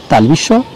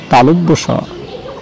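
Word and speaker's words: তালব্য শ: এই সটি উচ্চারণে সবচেয়ে বেশি ভুল করে থাকি আমরা, কেউ বলি তালবিশ, কেউ বলি তালবস ইত্যাদি, আসলে সঠিক নাম তালব্য স। আমার সাথে বলি তালব্য স, তালব্য বলে কিছুটা থেমে বলুন স, তালব্য স, এভাবে অনুশীলন করুন।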